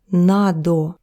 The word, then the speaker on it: надо: But when it's above me, we add this little o to над. Надо. And basically, it's just because it's easier to pronounce. Instead of над мной, you say надо мной, so that extra vowel there.